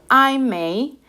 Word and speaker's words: Ai Mei: analizamos bien, de hecho el pinyin suena bastante a la pronunciación que estamos dándole en nuestro idioma, ¿verdad? Amy, I may, ¿verdad?